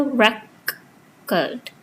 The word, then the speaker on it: record: Stress falls on the first syllable record.